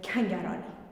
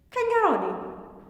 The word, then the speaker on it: Kangarani: Anyway, those of you who know me as, from now on, I'm Kangarani. Kangarani? Kangarani. Macaroni. Rhymes with macaroni.